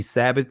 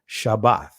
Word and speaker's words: Shabbat: next Shabbat you see Sabbath Sabbath is the Greek pronunciation of the word Shabbat right but we see